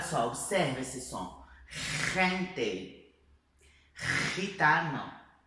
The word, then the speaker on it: gitano: Então tanto la Re como la Rota é esse som aqui de garganta arranhando a garganta, tá? Então vamos lá, olha só, observa esse som. Gente, gitano, jamón, jazmín, ok?